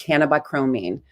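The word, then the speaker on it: cannabichromene: molecule and it turns into bc and it's pronounced cannabi chromine interesting thing about this one was that this one was discovered before cbca it was discovered in 1966.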